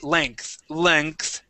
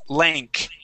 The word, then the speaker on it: length: this word, length, okay, we don't say length. It is length. Okay, like that, length. Length. Okay, and also lengthen and lengthened. Lengthened. So, yeah, so that E-N-G is pronounced as an A-N-K. Okay. Very strange, I know, but that's how we pronounce it.